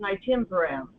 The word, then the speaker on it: Nystatin: I pronounce it Nystatin.